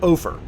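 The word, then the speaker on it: Ophir: current population close to 100 again and yes ofer is pronounced over over like gopher all right boys we're about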